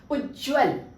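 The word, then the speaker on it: उज्ज्वल: हम सही उच्चारित करें उज्जवल दो बार ज की ध्वनि का आप उच्चारण कर रहे हैं तो ये दो बार ज आधा ज आधा ज दो बार आएगा ये वाली सही है आपकी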